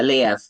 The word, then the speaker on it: Liev: I would say it's Lev or Liev. Yeah, Liev. Yeah, like Kiev, but Liev.